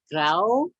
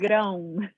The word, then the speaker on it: Grão: Grau? That's fine. Yes, that's a hard one to pronounce. It's Grão. But Grau is fine.